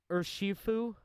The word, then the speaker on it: Urshifu: It evolves into Urshifu, or what was that? How do we pronounce that again? Urshifu.